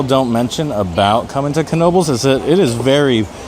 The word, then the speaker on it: Knoebels: Vlog is the name everybody wonders why it's pronounced Knoebels now I don't know much about um what's